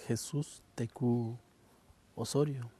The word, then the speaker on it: Jesús Tecú Osorio: Eh, my name is Jesús Tecú Osorio. Could you spell it if it's possible? It's J-U-S-U-S. Well, it starts with J-S-U-S T-E-C-U O-S-R-U-I-O. Jesús Osorio, Jesús Tecú Osorio?